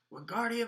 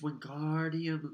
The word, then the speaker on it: Wingardium: "Wingardium Leviosa!" he shouted, waving his long arms like a windmill. "You're saying it wrong," Harry heard Hermione snap. "It's Wingardium Leviosa. Make the gar nice and long."